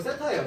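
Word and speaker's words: θ: 자 OP가 X축의 양의 방향과 이루는 각의 크기를 뭐라고 했을 때 세타라고 했을 때 자 이거 세타예요. 세타 읽을 때 세타라고 읽는다고.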